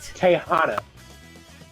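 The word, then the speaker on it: Tijuana: Tahana. Tahana. Oh, I saying it wrong. Yeah. Tijana is just a place in Mexico.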